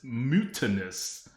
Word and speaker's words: Mutanus: just for the record it it it's spelled like mutt anus it is but but it's mutinous and it's not mutinous